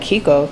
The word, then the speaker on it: Chicco: bet y'all probably like Kiko it's spelled Chico but apparently it's pronounced Kiko so we're gonna go with Kiko it came in today